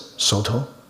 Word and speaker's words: Soto: One is Caodong, the Japanese pronounce it Soto.